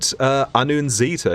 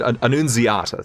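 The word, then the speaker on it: Annunziata: Yeah, Ed Anunzita is his name, I believe. Ooh, actually, That's a name you made up. no, I may have pronounced it a little wrong, but yeah, Ed Anunziata, thank you.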